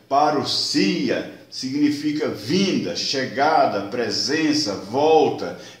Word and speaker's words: parousia: A palavra que está escrita parousia, que se pronuncia parousia, significa vinda, chegada, presença, volta, visita real, advento, chegada de um rei.